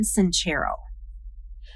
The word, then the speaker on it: Sincero: How to Stop Doubting Your Greatness and Start Living an Awesome Life by Jen Sincero.